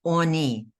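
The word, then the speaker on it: עני: eye no okay right that word is pronounced I think it has a kamatsun I think I put a Pata it's Oni Oni means poor okay the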